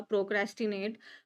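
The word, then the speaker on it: procrastinate: प्रोक्रेस्टिनेट। प्रोक्रेस्टिनेट spelling पर ध्यान रखना है। यह चार सिलेबल में टूटता है। और यह जो क्रैश है क्रैश इसके ऊपर में हम लोग फोकस करते हैं।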